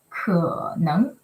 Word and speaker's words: 可能: Okay, so how we say it? We say 可能. Okay, third tone 可 and the raising tone 能. Okay, 可能.